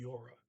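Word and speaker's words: gjorde: yora did he die so yora uh as a D in it but it is silent it's yora next sentence the weather was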